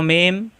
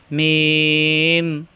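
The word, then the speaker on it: م: মাথাটা একটু পেঁচানো মিম এটাও মিম দুই ঠোঁট থেকে উচ্চারণ অর্থাৎ মিলানো ঠোঁট ছেড়ে দিয়ে আবার মিলালেই হয়ে যায় মিম মিম মিম মিম এই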